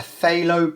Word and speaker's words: phthalo: if you've got a phthalo blue which is spelt with a p silent p that will do just